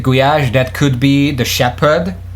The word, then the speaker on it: gulyás: But if you want to say it in Hungarian, it's written like gulyás, and then ly is one letter.